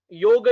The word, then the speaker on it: yoga: Yoga is yoga, not yoga.